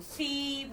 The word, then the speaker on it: could: C-O-U-L-D. How can we pronounce? Here in this word, this L is silent letter.